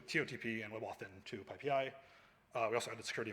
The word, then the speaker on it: PyPI: I want to do a quick background on Pipi and it's rolling python ecosystem so first of all pipei is pronounced uh well one of the Emojis didn't render but Pi Pi not Pi Pi it's the primary packaging next